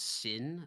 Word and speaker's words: S1N: The last time we had a Radiant was Sin, or S1N is how it's spelled.